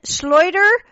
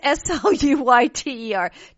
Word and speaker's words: Sluyter: Really quickly, Dean Schleuder. Boy, I hope I didn't Schleuder his name. It's Sluyter.